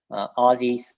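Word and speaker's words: Ozys: working with very recently aussies is spelled o z y s there they started they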